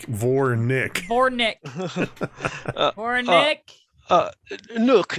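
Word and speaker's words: Vournick: it's spelled v-o-u-r-n yeah it's v-o-u-r and then n-i-c-k like vore nick nick nick uh nook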